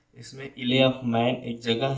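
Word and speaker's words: Isle of Man: ये इले इसले ऑफ मैन, इसमें यल साइलेंट दोस्तों है। इसमें इले ऑफ मैन एक जगह है डॉगलास में, वहाँ पे ये चल रहा था।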